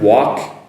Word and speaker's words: walk: Can you notice the difference there? Walk, work.